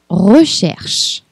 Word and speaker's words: recherche: R comme recherche. R é uma letra, um som novo. O R, ele vem bem do fundo da garganta. R comme recherche. Recherche, pesquisa. Não duvide em exagerar a pronúncia.